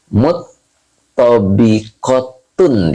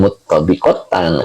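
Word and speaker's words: مُطْبَقَةٌ: Muttobikotun dibacanya, bukan muttobikotan, karena dia menafsirkan mu'sodatun, begitu Pak.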